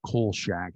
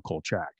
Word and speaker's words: Kolchak: where you can see he corrects the pronunciation of coal shack to his way of saying it as opposed to jeff rice and other people on the show who wanted to call cold shack and he you know